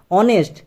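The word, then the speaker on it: honest: অনেস্ট। এই silent থাকছে সেইজন্য এখানে কি হয়েছে?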